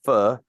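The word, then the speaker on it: phở: but you'll get 800 angry tweets saying it's pronounced fur right and I'm like yep that's how it's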